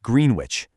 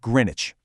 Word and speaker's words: Greenwich: But, beware, it is definitely not pronounced Greenwich. It's pronounced Greenwich.